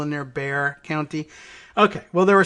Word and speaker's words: Bexar: Although I know we've discussed what I've called Behar County, Bexar. Giving it the Spanish-ish X pronunciation. But no, apparently they gloss over that and anglicizing it as Bear County, but basically sounding like Bear County, but maybe a little extra half hitch of a syllable in there, Bear County.